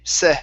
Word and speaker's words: said: instead of s okay it's a short e sound e said said said okay good